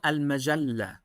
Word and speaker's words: Al Majalla: I can't pronounce It's called Al-Majallah.